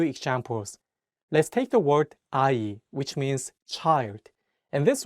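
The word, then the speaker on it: 아이: let's take the word AI which means child in this world the young in each syllable works as a placeholder and only the vowels are pronounced another example is the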